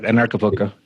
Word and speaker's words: Anarchapulco: But this Anarchapulco, Anarchapulco. How do I say it? Yeah, you said it right. Anarchapulco.